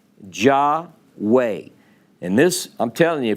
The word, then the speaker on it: Jahway: name but this child's name was spelled j-a-h-w-a-y which i thought was pretty clever ja way and this i'm telling